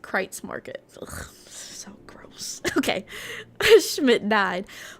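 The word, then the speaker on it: Kreuz Market: Oh, cruise markets pronounced crates market.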